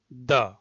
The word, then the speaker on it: the: টিএইচই এর উচ্চারণ হবে দ্য, দ্য ওয়ান টাকা নোট, দ্য ওয়ান টাকা নোট। এখানে একটা বিষয় ক্লিয়ার করি, সেটা হচ্ছে দা নয়, টিএইচই এর উচ্চারণ দা হয় না, দ্য, দ্য, দ্য ওয়ান টাকা নোট।